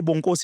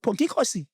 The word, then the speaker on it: Bonginkosi: If I can tell you now without doubt, if I can say Bongozi, it's going Bonginkosi. He wouldn't give an effort, but you are black here.